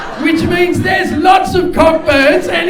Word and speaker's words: Cockburn: he said, "It's pronounced Coburn." And I said, "It's fucking not." I said, "It's pronounced Cockburn." And where I come from, we call that thrush. And then he said, "The CK is silent."